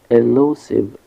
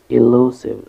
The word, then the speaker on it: elusive: one is a short e like a ship elusive elusive the stresses of the second syllable low elusive this word means that something is difficult to